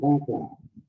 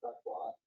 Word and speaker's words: Crutchlow: Conklin. I pronounced that wrong, didn't I? Yes. If you'll pronounce it right. My name is Crutchlow.